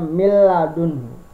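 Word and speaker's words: مِنْ لَدُنْهُ: Kemudian ada min ladunhu, dibacanya mil ladunhu.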